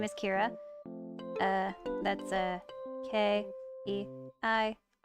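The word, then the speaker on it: Keira: when I first made her, her name is Kira. That's K-E-I-R-A. A. There we go. I used to spell it like this, but I was like, you know what? I like the reverse. Kira.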